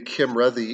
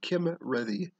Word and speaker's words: Cymredd: forbid right uh and then a double d sound is like a soft th so red instead of ready it's ready so kim ready kim ready there we